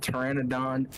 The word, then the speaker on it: Pteranodon: Insert Pteranodon having a P in it despite it being silent and having no purpose.